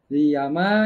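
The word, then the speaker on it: llama: sebagai ya Ma ya tulisannya ll ama Tapi kalau dalam bahasa Spanyol tuh dibacanya sebagai l y ya ma iya ma yang ada di Amerika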